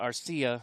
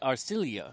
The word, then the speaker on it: Arcilla: from the Philippines, and my last name is not Arcia like I've been pronouncing it all this time. So, pie in my face, and it's Arcilia.